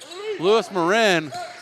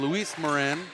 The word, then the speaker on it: Luis Morin: from three-point land for Lewis Marin correction on the pronunciation Luis Morin fifth guarded by